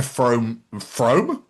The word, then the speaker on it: Frome: I imagine they just get to Frome? Don't go to Frome, that's near Bath. You don't need to go there, which is actually pronounced Froome, but still.